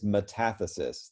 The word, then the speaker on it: metathesis: a what metastatic catheter it's easier for me to say metathesis if you think about it but it's metathesis the accent is on the second syllable okay moving on so